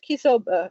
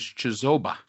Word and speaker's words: Chisoba: Excellent questions, Kisoba. And I'm I am sorry if I am mispronouncing your name, Mark Scott. All right. So, first of all, the pronunciation is Chisoba.